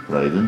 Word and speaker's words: Leiden: I was playing in Leiden. Leiden, yeah.